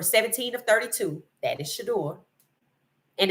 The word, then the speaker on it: Shedeur: I don't want quarterbacks like Shador Sanders now.